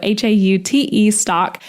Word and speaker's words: Haute Stock: And that is spelled Haute stock. So spelled like haute couture, but pronounced hot. So Haute stock.